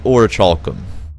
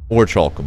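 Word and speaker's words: Orichalcum: of this word is I would say or chalom or chalum would be how you would say that but I'm sure that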